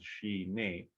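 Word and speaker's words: ཞི་གནས: So it has two syllables, shi ne, and the first syllable, shi, means peaceful or pacified, calm.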